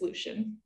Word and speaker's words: Lucien: how okay how would you pronounce l-u-c-i-e-n that leucine lucian i believe it's lucian i was so close i kind of go